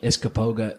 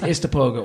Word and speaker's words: Istokpoga: Because a lot of, like I said, everybody always calls it Iskapoga, Iska, and then different stuff. Nobody pronounces it. But it's Istapoga or Istokpoga is how, if you would spell it out, but Istapoga.